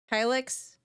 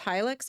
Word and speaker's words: Hilux: Hilix. It's pronounced Hilux.